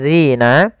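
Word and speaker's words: الذين: faammalladzina kemudian di sini pada lafal Dina hati-hati dalam melafalkan huruf dalal jangan sampai terbaca dengan huruf Zai ini yang sering terjadi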